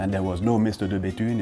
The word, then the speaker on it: De Bethune: Okay, next one is easy, de Béthune, but there could be a trick for English speakers because yes, the TH sounds just like a regular T, and actually regarding tea,